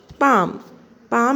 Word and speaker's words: palm: उसके बाद पाम में L प्रोनाउंस नहीं होगा, लेकिन लिखते टाइम पे हमें पाम लिखना ज़रूरी है, L लिखना ज़रूरी है।